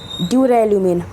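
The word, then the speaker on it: duralumin: ड्यूरेल्यूमिन, friends, ये ड्यूरेल्यूमिन है, इसे आप सुधार लीजिए, ड्यूरेल्यूमिन है ये, तो इसे आप याद रखिएगा।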